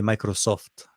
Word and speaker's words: Microsoft: In Arabic, we say Microsoft. Like as if it's we're emphasizing on the SOF.